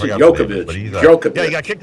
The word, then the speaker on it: Djokovic: How do you pronounce it? Djokovic.